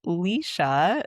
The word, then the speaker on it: Lesha: Which is funny because my name is a single E, but it's pronounced Leysa.